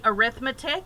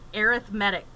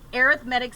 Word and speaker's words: arithmetic: people want to say arithmetic when it's a noun it's arithmetic but in this case it's an adjective it's describing the sequence so it's pronounced arithmetic okay just so that